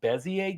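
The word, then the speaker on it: Bézier: There is a tool called uh Bezier games or if you want to like phonetically bezier um games.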